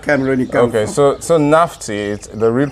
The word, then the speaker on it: Nafti: So Nafti, the real pronunciation is Nafti.